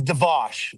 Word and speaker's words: Devash: I I say your last name is Devos. Is that the right way to say it?